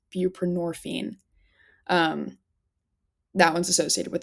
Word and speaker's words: buprenorphine: And I always forget how to pronounce this one. I believe it's buprenorphine.